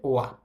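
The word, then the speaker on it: は: এইটা হচ্ছে হা কিন্তু এই হাটা যখন পার্টিকেল হিসেবে বসে তখন আর এটার উচ্চারণ হা থাকে না এটার উচ্চারণ হয়ে যায় ওয়া তাহলে এই শব্দটার উচ্চারণ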